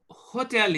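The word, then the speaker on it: hôtel: silent okay silent alphabet so if H is in the beginning it will be silent if H is anywhere else also in any of the words it will remain silent will not be pronounced and other alphabets will be together pronounced okay so for example if there is a you you know a word which is uh Hotel is a word in English in French hotel okay so these these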